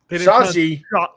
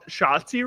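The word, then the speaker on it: Shotzi: a match in an indie promotion and didn't pronounce her name right. Shazi Shotsi, right? Yeah. It's not that hard of a name. He said Shazi.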